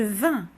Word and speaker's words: vins: Ils se terminent avec, pas avec IS, ni avec US, c'est avec INS. Et ça se prononce en. Je vins, tu vins, il vint.